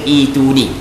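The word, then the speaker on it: ائتوني: Cara baca ituni, dia dalam kaedah bahasa Arab, kalau hamzah lepas daripada hamzah mati, kita kena baca ituni.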